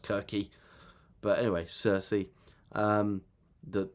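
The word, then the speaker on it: Circe: book Cersei came out but her name is pronounced kiry but anyway Cersei um the the witch who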